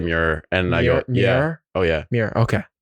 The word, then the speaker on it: Meurer: welcome back everyone this is Mir yeah Mir that's good enough that's that's how you pronounce it's a hard name because it's German